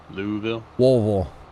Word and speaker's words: Louisville: like six hours away Bill Louisville gotta say it like you got a mouthful of marshmallows yeah uh that one